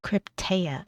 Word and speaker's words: Krypteia: Krypteia, okay.